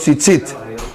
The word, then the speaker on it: tzitzit: Anote ahí, los tzitzit. ¿Cómo se escribe? Tzitzit. T-Z-I-T. Tzitzit.